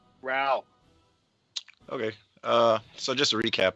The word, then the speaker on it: Rowl: Yeah, Rowl.